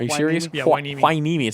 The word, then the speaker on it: Hueneme: keep hueneme are you serious yeah I need my knee me it sounds a wine hueneme hosting Rosemont both